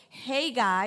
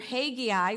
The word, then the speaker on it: Haggai: gonna be in the book of Haggai or Hagee i whichever a pronunciation you you think of you know hey guy was a minor prophet